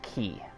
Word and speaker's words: quay: Actually, I think that's pronounced quay.